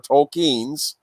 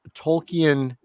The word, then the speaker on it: Tolkien: Tolkien's The Hobbit and The Lord of the Rings,